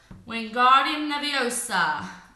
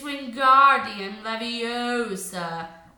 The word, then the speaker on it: Wingardium Leviosa: having much more luck Wingardium Leviosa he shouted waving his long arms for the window you're saying it wrong Harry hurt Hermione snap its Wingardium Leviosa make the GAR nice and long you did it then